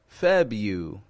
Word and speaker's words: February: a sneaky little r the first R in February the average American does